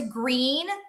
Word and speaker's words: Gruene: We also went to Gruene, Texas which is spelled g r u e n e.